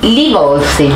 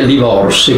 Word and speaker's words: Livolsi: Livolsi. Livolsi con una variante Livorsi, che è la pronuncia dialettale di Livolsi, viene dal siciliano antico, anche meridionale, dei dialetti meridionali, Deuluvolsi.